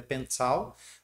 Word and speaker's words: Bencao: chamado de Pencao, né, escreve Bencao, mas a pronúncia mais aproximada é Pencao, onde ele tem mais de 12 mil fórmulas e mais de 1.100 ilustrações.